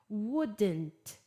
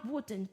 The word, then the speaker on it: wouldn't: E aí a pronúncia da negativa, vamos falar wouldn't. Wouldn't ou então would. Tô dando as pronúncias British e America, né? Wouldn't. I wouldn't do this. Ou I wouldn't do this. Wouldn't. Wouldn't. O T nem fala.